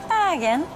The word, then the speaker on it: Bergen: And Bergen, or Bergen, as the locals say, is a vibrant and cultural city.